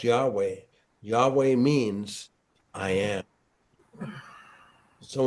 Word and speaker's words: Yahweh: And it's it's it's pronounced Yahweh.